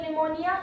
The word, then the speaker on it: pneumonia: जरूरी होता है तो निमोनिया इसकी स्पेलिंग पी से शुरू होती है क्योंकि इसमें जो पीर होता है वो साइलेंट रहता है इसलिए इसको निमोनिया कहते हैं मैंने अभी आपको बताया